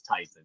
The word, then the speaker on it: Tyson: to have great guests tysan how do you say your first name sir is that the correct first name is Tyson yeah tyon okay great uh